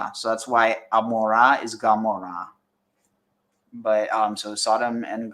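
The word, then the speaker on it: Gomorrah: sound like G so that's why Amora is Gamora but um so Sodom and gamor um K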